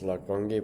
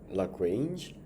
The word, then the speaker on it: Lagrange: I first thought the way to pronounce this name was Lagrange, but I think it's Lagrange.